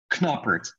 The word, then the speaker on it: Knoppert: in english you're asking a dutch dude who pronounced his name with a k knoppert and the english people